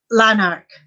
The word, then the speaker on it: Lanark: was driving to leonard leonard how do you pronounce it lanark lanark okay so a lot of uh what